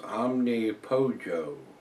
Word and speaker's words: Omnipollo: He says, Omnipollo is pronounced Omnipojo. Polo is chicken in Spanish, and they play with omnipotence.